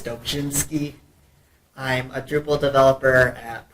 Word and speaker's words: Dobrzinski: I'm Dobrzinski. If you want to pronounce it correctly the Polish way, it's Dobrzinski.